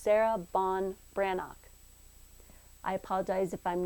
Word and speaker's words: Sarah Ban Breathnach: pronounce the author's name wikipedia tells me it's pronounced sarah bon brannock i apologize if i'm